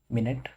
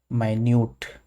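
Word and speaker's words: minute: अगर एक और एग्जाम्पल आप देखना चाहें होमोग्राफ का, तो एक वर्ड होता है ये मिनट, दूसरा वर्ड है माइन्यूट, ठीक है। स्पेलिंग सेम है, पर एक को मिनट पढ़ते हैं, दूसरे को माइन्यूट पढ़ते हैं।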